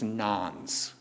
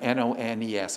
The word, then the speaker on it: nones: population are called religious nones. That's the term, N-O-N-E-S. Am I pronouncing it correctly? Nones? Yeah, they're nones.